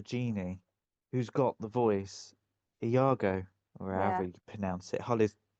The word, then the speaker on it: Iago: who's got the voice, Iago, or however Yeah. you pronounce it. Holly's literally sat there now going, "It's not pronounced like that," but it is Iago.